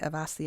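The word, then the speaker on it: Awasthi: Avasthi a little earlier because I say he's our West Bayer in here because the way his name is spelt is A-W, but you say A-V.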